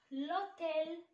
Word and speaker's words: l'hôtel: comme l'hôtel. l'hôtel. l'hôtel c'est un mot commencé par H muet.